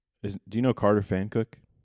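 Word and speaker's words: Pfankuch: And so I thought it was Fonuch, you know, I thought it was like German or something.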